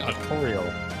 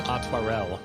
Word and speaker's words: Aymeric: That I'm was saying Artorial, but it's Atwarel, which makes sense now that I really look at how it's spelt.